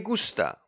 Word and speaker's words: gusta: The G sounds like guilty when it's followed by an A, O, or U. Galleta, gol, gol, or me gusta, me gusta.